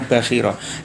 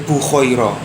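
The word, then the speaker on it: Bahira: Ini ada yang membaca itu bukan Bakhira tapi Bukhaira, nggih. Bakhira. Boleh milih lah. Tapi kalau Pak Zain ikut-ikutan sama guru-gurunya dulu bacanya itu Bakhira. Dia mengatakan Bukhaira.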